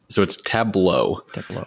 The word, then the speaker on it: Tableau: It's Tableau.